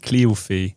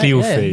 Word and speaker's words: Cléophée: And then another E at the end, Cléophée. Yes. Am I saying it right? You're saying it right. Cléophée.